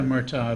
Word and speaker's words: Murtaugh: Although, is it Danny Murtaugh? Is that how you pronounce his name? Yeah, Murtaugh of the Pirates.